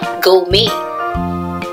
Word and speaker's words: gourmet: Gourmet. G-O-U-R-M-E-T. Here T is silent.